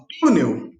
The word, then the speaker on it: túnel: Quando a gente for falar de túnel, sílaba tônica é o tu, e termina com L, então o U tem acento.